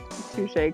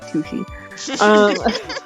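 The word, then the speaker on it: touché: i i know like i would have pronounced touche correctly but i just in my head i was like tushy i said love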